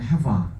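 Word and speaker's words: חַוָּה: 하와, 뭐 히브리어 발음은 헤바 이렇게 되고 이 헤바가 나중에 이브가 되죠.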